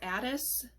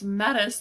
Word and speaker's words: Metis: how to pronounce this, Adis. She represents wisdom. Let's see. Hold on. Okay, it's Metis. The name is Metis. I guess that's an M. Thought it was an A, but it's Metis. Metis.